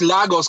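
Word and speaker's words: Lagos: we're just talking about the correct pronunciation if it was Legos or losos yeah actually it's losos cuz it's a Portuguese word that's what that's what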